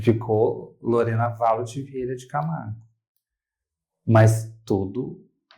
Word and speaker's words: Valocci: E como se pronuncia? Valossi ou Valotti? Valotti. Valotti. Valotti. Isso.